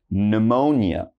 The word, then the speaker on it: pneumonia: So as you notice, PS is very common, but don't say the P, all right? So just one more time, I'm gonna pronounce these for you. So listen up. We start with pneumonia, psalm, psychology, psychiatrist, psychic, and psycho.